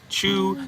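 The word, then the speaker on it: Ciu: It's pronounced Chew. They want me to pronounce C-I-U. They're spelling it out. Say it like this. C-I-U. I can't say C-I-U. It's like C-U. Chukas. Chew. If you want to write it so an English person can understand, you write C-H-E-W.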